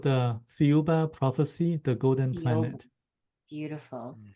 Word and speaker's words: Thiaoouba: you say it again please it's called the fuba prophecy the golden Planet beautiful beautiful can can